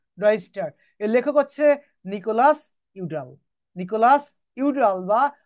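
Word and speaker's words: Udall: এর লেখক হচ্ছে নিকোলাস ইউডাল নিকোলাস ইউরালভা অনেকে উচ্চারণ অন্যভাবে করে থাকে নিকোলাস উডালো বলে থাকে যাই হোক নিকোলাস ইউডালের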